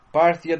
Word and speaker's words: Parthia: the kingdom of parsa Parthia Parsha how are you to pronounce it is probably the best pronunciation in English Parthia the kingdom of party